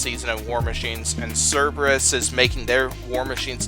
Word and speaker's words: Cerberus: New version of Apex this season, where they'll be taking on, pronounce this thing again. Cerberus.